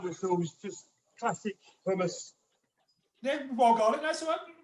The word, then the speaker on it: hummus: what are you doing pronunciation of that are you saying thomas thomas so not i'm from the rock obviously it was a bit further south so oh okay i'm arabic so it's hummus okay cool so okay